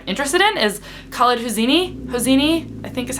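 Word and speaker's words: Hosseini: books that I'm interested in is khed hosini hosini I think is how you say his name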